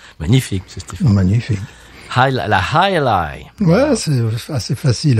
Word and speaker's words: Jai Alai: La High Ally. Ouais, c'est assez facile à prononcer. Et donc, High Ally, oui, complètement, oui.